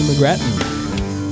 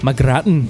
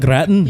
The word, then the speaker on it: McGrattan: Okay, so we're here with Haley McGrattan. Yeah. Hello. Hello. How are you doing today? That's not the way you pronounce her name. McGrattan. There you go. That's Haley good. McGrattan.